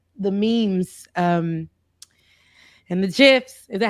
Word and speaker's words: GIF: kids are saying and now gifts people say Jeff yes yeah but they're wrong it's it's a g the Creator is wrong so yeah okay that's